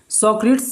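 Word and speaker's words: Socrates: आइए आगे देखिए, आगे देखिए लिखा है एग्जाम्पल, और देखिए लिखा है सोक्रेटिस, इस प्रकार से आप लिखेंगे, स्पेलिंग गलत नहीं होगी, सोक्रेट्स पढ़ लीजिए, सुकरात बोलते हैं।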